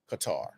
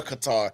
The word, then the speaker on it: Qatar: Is it Qatar or Qatar? But I like I was telling him, I put it in Google and it said it was Qatar.